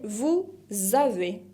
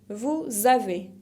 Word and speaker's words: vous avez: La deuxième personne du pluriel, c'est vous avez. Vous avez. Acá también hago la liaison entre pronom et verbe. Vous avez con la Z final que no se pronuncia.